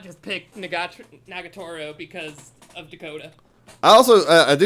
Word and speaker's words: Nagatoro: I did not just pick Nagatoro because of Dakota.